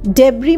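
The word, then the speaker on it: debris: এখানে কিন্তু লাস্টে এস আসছে কিন্তু এসটা একদম উচ্চারণ হচ্ছে না। ডেব্রি মানে ধ্বংসা বশেষ বা ভাঙ্গাচোড়া জিনিস।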